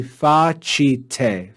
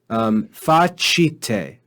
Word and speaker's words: facite: But then in the last word, we see facite, chite.